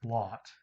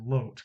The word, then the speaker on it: Lot: of people pronounce it lot because in english called lot as in like a parking lot or a lot of people but it's actually lot because it comes from the original hebrew i believe all this